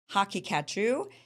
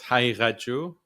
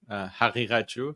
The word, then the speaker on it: Haqiqatjou: Sure, it's Haqiqatjou, Haqiqatjou. So one of the letters is specific to Arabic and Persian, so it's difficult for non-Persian or Arabic speakers to pronounce it.